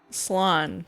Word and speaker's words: slán: The Irish slán. Slán is how you pronounce it.